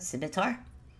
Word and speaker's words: scimitar: or mechanically is mithar how do you pronounce that simitar yeah mechanically a scimitar